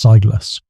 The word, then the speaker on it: Silus: Whispers about a guy named Silus Black pronounced Siligus.